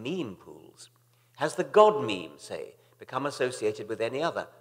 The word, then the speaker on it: memes: the French word me it should be pronounced to rhyme with cream just as genes are selected for their Mutual compatibility so in principle might memes be the large literature